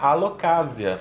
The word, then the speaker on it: Alocasia: intervocálico, ele tem som de Z, igual casa. Entendi. Então você vai falar alocásia.